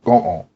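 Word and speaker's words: 午後: が、が、戦後、戦後、看護婦、看護婦が、 The word 午後、 afternoon contains both G's in the same word, sometimes sounding more like go'on.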